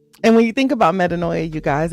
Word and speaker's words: metanoia: And so I guess I should have started by breaking down what metaninoia is. Let me explain to you again. It's pronounced metaninoi and it is a Greek word